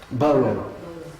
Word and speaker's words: Burroughs: Si quelqu'un veut me dire comment on prononce ça en anglais, Burroughs.